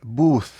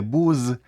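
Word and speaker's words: booth: острівки посеред магазину це бус бус звертайте увагу на вимову не Буз а бус бус - це невеличкий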